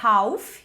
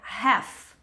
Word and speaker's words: half: Super normal pronunciar o L, só que a gente não vai pronunciar o L dessa palavra. E a gente vai pronunciar o A com som de e. Então, a pronúncia não vai ser half, como eu vejo muita gente falando. Pronúncia vai ser have.